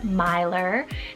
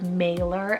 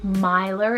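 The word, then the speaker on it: Maelor: e l o r Myer this one is actually a really unique well shed name you could pronounce it as mailer as well but Myer is the correct Welsh pronunciation and this name means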